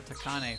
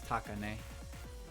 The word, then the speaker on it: Takane: I call her Takane for a while, but it's Takane.